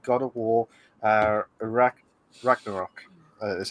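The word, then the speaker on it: Ragnarök: the highly anticipated god of war uh iraq ragnarok that's how you pronounce it uh the service is said to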